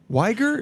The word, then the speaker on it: Uyghur: Uyghur, is that how you say it? Uyghur. Uyghur. But it's spelled like U-H-Y-G-U-R. Yeah. But it's Uyghur.